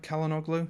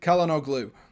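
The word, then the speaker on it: Çalhanoğlu: and then caleno who will be did i pronounce that right calendar glue yes i did calendar glue who will be your more creative player out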